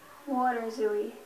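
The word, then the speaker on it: waterzooi: it so far and good luck water zooie water zooie am I pronouncing it correctly yes water zooie w a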